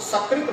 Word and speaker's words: सकृत: और यदि हम उसकी जगह पर यदि दंत स के स्थान पर यदि तालव्य श का उच्चारण कर दिए, साधु सकृत भोजन करता है, तो तालव्य श वाला जो सकृत, इसका अर्थ हो गया विष्टा, मतलब गंदा जो विष्टा है।